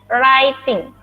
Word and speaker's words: writing: Writing, anak-anak ini kan ada W, R, I, bacanya writing. W-nya hilang. W-nya hilang, cara bacanya gini. W-nya hilang, dibacanya gini. Writing.